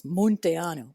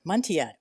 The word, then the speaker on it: Munteanu: It is meant to be in Romanian pronounced with that U the way it is. Monteanu, but I never pronounced it that way. I pronounce it Monte.